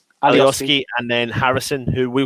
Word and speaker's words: Alioski: They've brought on Alowinski. How do you pronounce his name? Alioski, and then Harrison, who we was quite surprised not to see starting for Leeds.